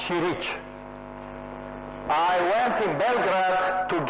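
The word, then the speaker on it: Ćirić: is this ma this mathematician they pronounce chirich I went in Belgrad to give a homage to to Chili.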